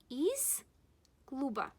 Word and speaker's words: из клуба: Z is paired with S. That's why we will pronounce it as S. Из клуба. Not из клуба. No. Из клуба. It's wrong. You should say из клуба.